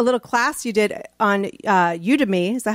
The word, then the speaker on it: Udemy: But I will say, like, finding you and a little class you did on Udemy.